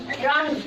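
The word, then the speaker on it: wrong: पढ़ो इसको पढ़ो तुम रॉन्ग रॉन्ग रॉन्ग पढ़े तो डब्लू का उच्चारण हुआ रॉन्ग नहीं रॉन्ग चलो नेक्स्ट इसी में आता है ए देखो आर के पहले डब्लू आया तो डब्लू साइलेंट रहा अब एक होता है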